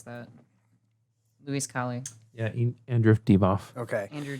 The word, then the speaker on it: Divoff: Divoff, or how would you pronounce that? Luis Colley. Yeah. Andrew Divoff. Okay. Andrew Divoff.